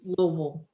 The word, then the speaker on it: Louisville: The name of- Amanda, you do know that's a single syllable, don't you? Louisville. Yeah, I can't. I need to work on it. You gotta fill your mouth with mashed potatoes. Is how I was told.